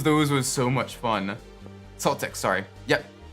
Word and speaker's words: Celtics: It's so confusing because when you talk about like, you know, the people that have the name spelled the same way, it's the hard C. But this is a soft C, which is so weird.